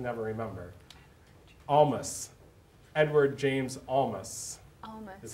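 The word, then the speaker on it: Olmos: sorry you didn't save your birthday present jessica how old is edward james alamos and i probably said his last name wrong because i can never remember almost edward james almas that's how you say it that's a good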